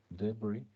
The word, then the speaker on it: debris: Una vez que esto ha sido destruido, la misma microglía va a contribuir a la remoción, debris en inglés, no se pronuncia la S, debris, son los restos, son los desechos, pues, de virus, células destruidas, ya sea propias o ajenas.